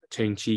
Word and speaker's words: Chengchi: Chiang is Associate Professor of Sociology at National Chengchi University. Did I pronounce it right?